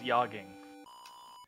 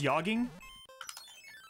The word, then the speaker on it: jogging: It's called yogging. Yeah, it's a soft J. I'm gonna try this. I'm gonna be hoisted by my own batard here, but I gotta try. It's European, right? Pronounced yogging? That is correct.